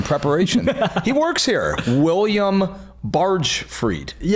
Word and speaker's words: Bargfrede: Uh, yeah, we it's it's pronounced barge freed, but I get um barfredi. I get barge freddy.